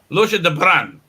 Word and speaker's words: Lorsha de Bruin: How do I pronounce that? Mike Jimmy, Lorsha de Bruin. Lorsha de Bruin. Yes. Wow, you're the first one to actually make that noise.